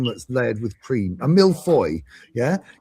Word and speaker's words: millefeuille: A millefeuille, yeah. It's not Millefeuille. It's millefeuille. Shh. That's not how you pronounce it in France.